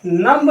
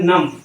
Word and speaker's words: numb: नहीं है, यह थम, NUMB। ये क्या है, नंब नहीं है, यह है नम।